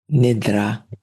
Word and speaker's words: nidra: You say yoga nidra, nidra. So, thank you for that pronunciation.